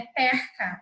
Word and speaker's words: perca: Neste caso, a vogal é pronunciada de forma aberta, é. Então, é perca, é uma espécie de peixe, certo?